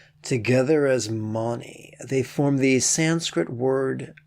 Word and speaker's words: Mani: The second syllable, Ma, rhymes with mama, and the third syllable, Ni, sounds like the joint between thigh and shin. Together as Mani, they form the Sanskrit